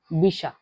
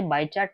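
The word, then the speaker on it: Bichat: French में इसे कहा जाता है बिशा। यहां पे मैं लिख देती हूं बिशा। यह अगर हम पढ़ने जाए तो वो स्पेलिंग कैसे है? बी आई सी एच ए टी इसे बाय चार्ट नहीं पढ़ना है। इसे पढ़ना है बीशा।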